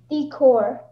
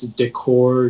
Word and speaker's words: decor: your word is decor decor can i have all the information please yeah so there's three pronunciations it's decor decor or decor uh it's a noun